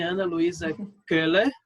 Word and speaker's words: Ana Luísa Köhler: A minha amiga, eu posso chamar assim, Ana Luísa Köhler. É assim que fala? Seu Isso, sobrenome? perfeita a pronúncia.